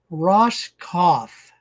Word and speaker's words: Roskopf: we're visiting with Kurt Ross cof so the p is silent that's all I have